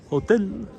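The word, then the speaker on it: hôtel: Hotel. You don't pronounce the H.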